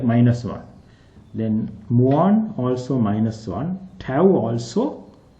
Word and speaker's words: mu: or me you can see me some people pronounce this letter as me also me mu Mo okay but for in physics we pronounce